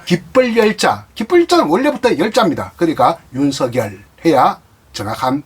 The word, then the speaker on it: 윤석열: 윤석열, 서쪽 할 때 서자, 결정할 때 결자, 윤석열이 정확한 발음이 되겠습니다.